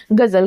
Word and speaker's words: guzzle: गजल, GUZZLE, गजल। गजल इज अ वर्ब। देखिए गजल हिंदी वाला गजल नहीं, गजल ये इंग्लिश का वर्ड है, इसे प्रोनाउंस हम गजल करेंगे, जिसका अर्थ होता है